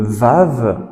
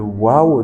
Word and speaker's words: Vav: Le troisième, ce grand trait vertical, c'est le Vav, le Waw, donc on prononce Oué ou V.